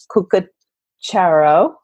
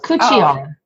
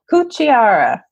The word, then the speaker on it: Cucchiara: And I'm speaking with Cucchiara. Did I say it right? Nope, not even close. Cucchiara. Oh. Say it again? Cucchiara. Cucchiara. There you go.